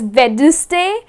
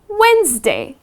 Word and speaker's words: Wednesday: week which is wednesday so many people make this mistake they end up pronouncing it as vedustay well it's not vedic day it is wednesday you know something like